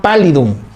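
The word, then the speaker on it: pallidum: Se escribe payidum con doble l. Treponema pálidum que causa la sífilis.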